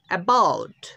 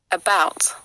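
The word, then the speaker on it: about: তার IPS symbol তো এখানে এর উচ্চারণটা হবে আউ তাহলে দেখো কি উচ্চারণটা হচ্ছে বি ও ইউ T bowed এবাউট এবাউট এবাউট এবাউট এবাউট এবাউট যেমন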